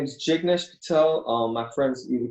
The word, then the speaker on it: Jignesh: because your first name is very hard to pronounce it's great it my name is chick nish Patel my friends even call me or